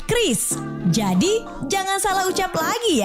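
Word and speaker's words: QRIS: Ada yang menyebut Kyuris, Kiris atau ORIS. Kepala Grup Departemen Kebijakan Sistem Pembayaran DKSPBI, Fitria Irmi Triswati mengungkapkan pengucapan yang benar adalah Kris.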